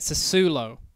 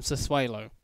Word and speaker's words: Sassuolo: I'm redoing this intro because I was recently pointed out that you actually pronounce it Sassuolo rather than Sassuolo. I used to call it Sassuolo until someone told me it was pronounced Sassuolo.